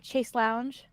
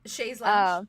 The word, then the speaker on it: chaise lounge: like a freaking like how do you pronounce it? A chase lounge? A chase lounge? Chaise lounge. Like Chaise a lounge. chaise Chaise lounge. Yeah.